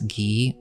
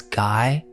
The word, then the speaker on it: Guy: in this case it's Alice gee or it's spelled Alice guy or was she just